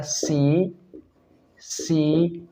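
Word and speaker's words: tsetse: में लिखा जाता है सी सी मक्खी बेटा जब भी हम बोलते हैं तो इसमें टी साइलेंट रहता है लेकिन जब भी हम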